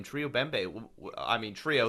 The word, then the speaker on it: Bembe: right, and it's pronounced Bembe.